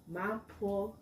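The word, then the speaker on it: mapo tofu: Mapotofu. Mapotofu. Mapo. What? Mapotofu. Very good pronunciation.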